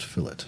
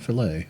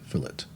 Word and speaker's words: fillet: That's the way that's pronounced. Filit, not filt, fillet.